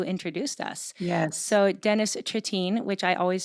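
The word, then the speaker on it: Trittin: So Dennis Tritine, which I always said his name wrong, but Mhm. that's how you say his last name, right? Yeah. Tritine, who is he's actually lives in my hometown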